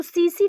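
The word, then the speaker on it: tsetse: तो सीसी फ्लाई सीसी फ्लाई जिसमें T silent है।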